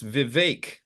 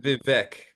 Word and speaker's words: Vivek: took from that is it's VI not Vic yeah he say rhymes with cake yeah right right I